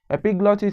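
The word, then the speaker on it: epiglottis: the trachea and a structure called the epiglotis epiglotis is spelled Epi g l o TT I S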